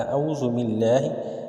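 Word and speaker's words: أعوذ بالله: عرض کی جاتی ہے۔ اعوذ باللہ، الف کی آواز علیحدہ ہے، عین کی آواز علیحدہ ہے۔ اعوذ باللہ، اعوذ باللہ من الشیطان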